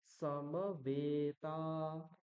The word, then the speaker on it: সমবেতা: কুরুক্ষেত্রে সমবেতায় উৎসব সমবেতা হুম এখানে সকার এবং মকারের পরে যে অকার তার হ্রস্ব উচ্চারণ এবং মকার সরি এখানে বকার হবে বকার এবং তকারের পরে যে এককার আর আকার রয়েছে তাদের দীর্ঘ উচ্চারণ হবে এটা বকার হবে তারপরে